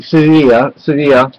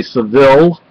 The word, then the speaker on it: Sevilla: You don't pronounce it with the L.